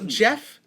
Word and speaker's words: Gef: Not Geoff like Joffrey. No, there's no O. G-E-F. G-E-F. Never in any of the things I was reading and looking up did they explain at what point he informed them how to spell his name. They weren't. Could it have been Gef with an accent? No, this is not a GIF situation. This is soft G.